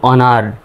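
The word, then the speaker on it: honour: তো এখানে কিন্তু এইচ এর উচ্চারণটা সাইলেন্ট হবে। তাহলে ও এন ও ইউ আর উচ্চারণটা হবে অনার।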